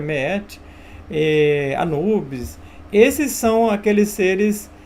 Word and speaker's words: Maat: Então esses deuses do passado, Osíris, Horus, Meet, né, no caso se escreve Maat, mas se pronuncia Meet, Anubis, esses são aqueles